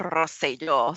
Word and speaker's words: Rosselló: The current governor of Puerto Rico, his name is Ricardo Rosselló, so roll your R's, ladies.